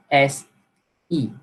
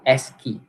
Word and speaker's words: ASCII: Okay, so as I pronounce, it's pronounced as SE, okay, ASCII. Okay, so it assigns the